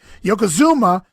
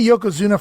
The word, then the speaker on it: Yokozuna: the promo earlier is he can't pronounce Yokozuna's name right he's Yoko Hama he's Yoko whatever he's Yoko Zuma but he can't say Yokozuna for whatever reason dougen's